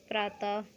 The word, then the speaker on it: प्रातः: विसर्ग में देख लीजिए इनका ह का साउंड आता है पीछे, जैसे पुनः, प्रातः, ह का साउंड आ रहा है ना।